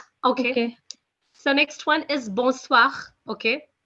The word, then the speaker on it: bonsoir: you should know okay so next one is bonsoir okay b-o-n-s-o-i-r that's bonsoir okay guys which means good evening